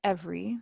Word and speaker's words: every: And then every, the second E is silent.